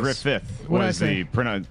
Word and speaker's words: Griffith: Griffith. Is the way you pronounce it.